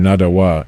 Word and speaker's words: Nottoway: The term Nadawa is another name for, or the correct pronunciation of, Nottoway.